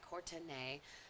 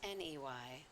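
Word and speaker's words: Courtnay: Taylor on Twitter and it's spelled c o u r t n a y ctin not Ney if you go to Ney you will have a different experience Ney is an adult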